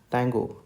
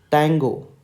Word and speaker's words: Tango: So the phonetic spelling of this letter is tango. Okay, is tang, TANG. You have to focus on this. That means you have to emphasize on TNG and then go. Basically it is tango, but in phonetics you have to pronounce this as tango, tango, tango.